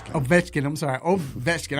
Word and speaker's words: Ovechkin: Washington Capitals captain Alex over check that's Ovechkin I'm sorry oh that's